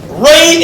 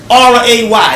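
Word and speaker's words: Wray: This is by Ray and Nephew. SO THAT'S A W R A Y. That would still be Ray. W R A Y. THAT MEANS THE W IS SILENT, RIGHT?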